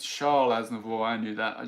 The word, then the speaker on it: Charles: Do you pronounce the S on Charles? I always forget. Charles Aznavour. Charles. Maybe when you put it together. I know you don't. You don't do liaison on names.